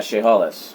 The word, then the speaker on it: Chehalis: Can you pronounce that? Yeah, Chehalis. Chehalis.